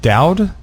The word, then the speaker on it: Dowd: Dowd?